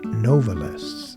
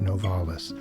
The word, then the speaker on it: Novalis: and by the way he pronounced the pen name novelists and that's how the family pronounced it but you know we Americans commonly say novales and that's why I say it that way it's very common to